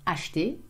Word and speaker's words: acheter: m'appelle, acheter, to buy, usually pronounced acheter, again we have the E in the middle that we eat up, manger, to eat, and jouer, to play.